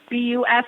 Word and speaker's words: Buss: in La I mean if you're a little German it's but is definitely